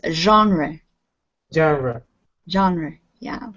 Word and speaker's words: genre: a french word it's genre genre genre yeah it's kind of a ju sound at the beginning of it if it were pronounced english it would be genre but we say genre and this word even